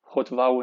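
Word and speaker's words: הָטְבָּעוּ: Hotva'u. Notice again the accent is here. So again, it's a closed and accented syllable.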